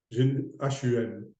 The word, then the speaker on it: hum: H-U-M, hum, hum. On prononce comme ça, hum.